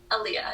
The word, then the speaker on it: Alia: Miss, am I saying it right? Alia? Alia, yes.